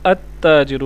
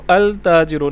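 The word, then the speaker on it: التاجر: pronounce हो रहा है लेकिन ता से अगर कोई लफ्ज हुआ यानी फॉर एग्जांपल ताजिर तो अत्ता जिरु हम इसको अलता जिरो नहीं पढ़ेंगे अल ताजिर नहीं पढ़ेंगे अता जिरो प क्योंकि यह हरूफ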